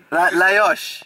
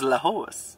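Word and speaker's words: Lajos: How do you say your name? Luis. Layosh. Listen, this is. Well, because I thought it was Lahos.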